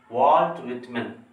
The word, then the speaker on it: Walt Whitman: Generally, most of the students and most of the teachers, while they are using the pronunciation Walt Whitman, so it's wrong pronunciation, we have to use like this, Walt Whitman.